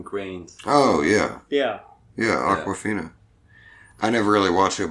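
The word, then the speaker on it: Awkwafina: Aquafina. Like the water. Really? Yeah, You sounded out, Martin. Martin, I said it earlier. Look, I wish you had listened. Aquafina.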